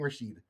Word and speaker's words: Rashid: Who is King Rashid? Am I pronouncing that right? Yeah, you are.